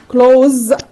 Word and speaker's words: clothe: اوكي لو انا بقى جيت قلت clothes كمان s.